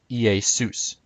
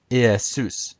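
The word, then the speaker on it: Ἰησοῦς: would have been pronounced EA sous EA suits again the accent is on sous Zeus would have been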